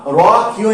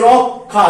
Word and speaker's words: রক্ষা: আরেকটা উদাহরণ লিখেছি দেখো, এই যে রক্ষা, র ক্ষীয় আকার, তাহলে এই যে রক্ষা, দেখো ক খ উচ্চারণ করবে বলেছি, তাহলে উচ্চারণ কি? আমরা এর উচ্চারণ কি করি? রক্ষা।